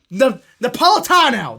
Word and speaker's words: Napolitano: Now, Napolitano.